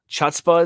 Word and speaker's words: chutzpah: Yeah, that's chutzpah. Chutzpah is a good one. Mm-hmm. I like that. Chutzpah actually is how it's pronounced, but I always say it chutzpah because Hanukkah.